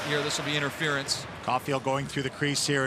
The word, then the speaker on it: Caufield: So that is Judd Caufield in the box. Same pronunciation on the last name as Cole Caufield, but a minor spelling difference. There's an L in Judd's name.